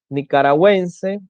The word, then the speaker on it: nicaragüense: Cuando la U debe ser pronunciada en las sílabas we, wi, por ejemplo, tenemos pingüino, paragüero, guiro, lengüetazo, lingüística, monolingüe, que es cuando sabe un solo idioma, nicaragüense, bilingüe, cuando sabe dos